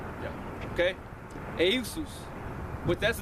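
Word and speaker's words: Ἰησοῦς: name, which comes from the proper pronunciation of Jesus in the Greek is Eusus. Yeah. Okay? Eusus.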